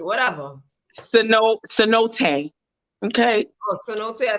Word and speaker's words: cenote: Wait, I put the pronunciation. Santaye, whatever. Cenote.